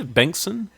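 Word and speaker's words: Bengtsson: Richard Bengston on there how do you say Bankson yeah that's that's right yeah did the bank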